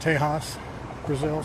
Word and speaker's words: Texas de Brazil: It's uh it's spelled Texas I think Texas de Brazil but it's pronounced teas Brazil, something like that.